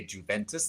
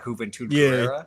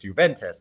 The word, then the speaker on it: Juventus: growing up but I would always say a Juventus like Huventer like yeah exactly that was my dad had to explain it to me. No, it's it's it's Juventus.